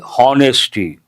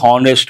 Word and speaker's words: honest: Usually people say honesty, honor. That is not correct. H is silent.